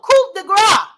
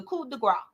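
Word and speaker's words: coup de grâce: Oh, coup de grace. Thank you. Coup de grace. Y'all, one of my supporters just had to correct me and said it's the coup de grace. The coup de grace.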